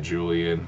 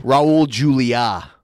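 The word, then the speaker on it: Raúl Julia: I'm saying it right Julian yeah rested Raul Julia not Julian peace I guess that's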